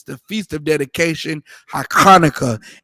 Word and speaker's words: Hanukkah: Hanukkah is the correct pronunciation for it in the ancient Hebrew.